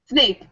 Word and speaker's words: Snape: Snape, Snape, like Professor Snape.